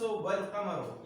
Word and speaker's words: القمر: تو الشمس والقمر، یہاں پر شین سے پہلے لام کا استعمال ہے لیکن تلفظ میں نہیں ہے. یہاں پر لام کا استعمال ہے لیکن اس کا تلفظ بھی ادا کیا جاتا ہے.